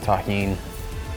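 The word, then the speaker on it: Tajín: Shout out to everybody that knows the deliciousness of Tajin. That's how you pronounce this.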